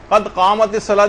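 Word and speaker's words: قد قامت الصلاة: اس کو صحیح کرنے کی کوشش کرنی چاہیے، قد قامت الصلاۃ، جیسے کہ اذان اس میں اقامت میں بھی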